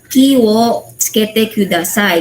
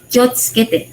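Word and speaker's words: 気をつけて: Though, para siyang particle, pero ang pagbasa is kiyo, kiwo, tsukete kudasai, ganon. Pero ang pag-pronounce mo, wag kiwo tsukete kudasai. Yung sabi ko kanina sa video, you must pronounce it with kyotsukete.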